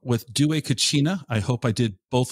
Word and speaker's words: Dué Cucina: The name of the company is Dué Cucina, and you said it right.